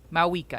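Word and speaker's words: Mavuika: Mau Mauika. Mauika. I don't think you pronounce the V.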